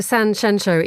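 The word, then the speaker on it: Sanxenxo: Uh so what takes you to San Sheno, even though I'm probably saying it wrong, you're not saying it wrong.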